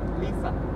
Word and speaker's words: Lisa: In German, it's Lisa. Lisa.